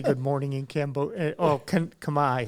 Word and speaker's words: Khmer: Oh, Khmer.